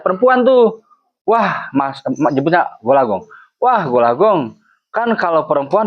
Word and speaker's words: Gol A Gong: Dan kalau kamu sukses semuanya karena Allah a gol agong dibacanya golagong itu kesuksesan berasal dari Allah Subhanahu wa taala.